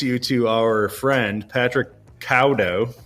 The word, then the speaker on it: Caldow: Everybody, I want to introduce you to our friend, Patrick Caldow. I'm not saying his name how it's spelled, but I'm insisting. He insisted that I do not pronounce the L.